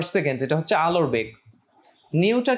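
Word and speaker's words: ν: নিউটা কি? নিউটা হচ্ছে কম্পাঙ্ক। নিউ, তুমি উচ্চারণটা একটু দেখো, এটাকে নিউ বলা হয়।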